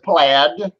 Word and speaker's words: plaid: played in what square we pronounce it plaid yeah that's that that design with the squares okay so like are like like a Scottish okay so just like